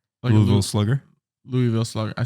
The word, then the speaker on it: Louisville: I think Louisville. You in don't say the S.